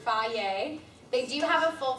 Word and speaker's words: Hy-Vee: It's pronounced Hy-Vee.